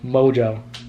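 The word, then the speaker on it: Mongeau: mojo jojo no it's it's pronounced mojo but it's it's spelled m-o-n-g-e-a-u mojo but yeah i did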